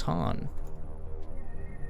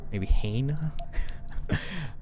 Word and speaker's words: Han: My name is Han. There's not really a wrong way to say that one. Maybe Hane? Not quite.